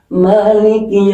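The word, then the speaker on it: مالك: Ini mananya panjang. Kalau yang malikinas itu mananya pendek.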